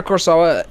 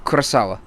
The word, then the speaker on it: Kurosawa: get back to our point so yeah Akira Kurosawa was the one of the first many to